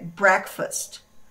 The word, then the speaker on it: breakfast: da manhã, que é breakfast. Breakfast. Ela, apesar de ela ter aqui dentro a palavra break, exatamente da mesma forma que se escreve, a pronúncia dela não é break e sim break.